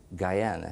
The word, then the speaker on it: Guyana: have said that you were born in British Guiana now in the film based on your story Sidney Poitier says guiana then I checked the dictionary and it says Guyana so what is the proper pronunciation sir when I was born it was